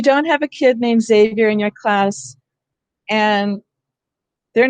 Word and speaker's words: Xavier: beginning of a word, it can say Z, like xylophone and Xavier. Okay? If you don't have a kid named Xavier in your class and